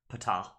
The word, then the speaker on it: Ptah: We have Ptah, which I'm pretty sure I was talking with the Discord server, and they say that the P is pronounced Ptah.